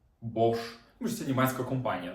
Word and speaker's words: Bosch: букв с це ха Ми всі знаємо компанію Bosch і пишеться Вона як бо с СХ Bosch то що це німецька